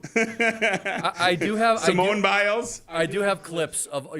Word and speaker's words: Simone Biles: I I do have Simone biles I do have clips of your mispronunciations I cannone there you go not Samoan biles I don't even know